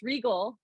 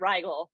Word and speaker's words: Regal: I was like, well, if people can pronounce Regal, then yeah, it sounds great. But oftentimes they get Rigel.